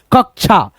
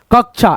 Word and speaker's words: कक्षा: जैसे ये क लगा है ना, पूरा क बोलेंगे, फिर दोस्तों इस क को बोलने के बाद आधा क का उच्चारण आएगा, जैसे क उसके बाद से छा, कक्षा, कक्षा, ऐसे करके। तो ये सब चीजें दोस्तों